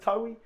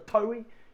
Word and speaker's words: Towi: And I just says, "Look, my name's Towi." If you say it like the tow truck driver, the towy, you'll hit it right on the nail.